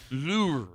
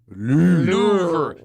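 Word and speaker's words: Louvre: The way we we we man it is pronounced louver louver. So there is a ru at the end but it's a soft r for most people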